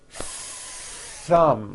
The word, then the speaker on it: thumb: Notice how long I'm holding the th sound. Thumb. It's not good enough just to put your tongue between your teeth and say a th word like this. Dumb. You see that? My tongue came out, but there was never any air friction.